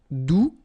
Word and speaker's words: doux: All right, doux, you don't pronounce the final X.